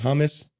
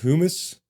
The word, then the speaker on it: humus: kind of humic material always read that as hummus like the kind you dip your chip into I think it's pronounced humus I don't know look I think it's spelled exactly the same too anyways now I'm